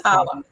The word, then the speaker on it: Ptolemy: to mispronounce the word because it sounds like the P is silent. But It is. The P is silent, so it's okay. Ptolemy.